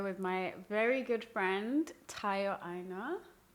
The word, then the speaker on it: Tayo Aina: It's your girl Jojo Lara and I'm here with my very good friend Tayo Aina. Right, did I pronounce it right?